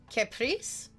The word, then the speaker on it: caprice: it is a it's it's supposed to be Caprice hey look I read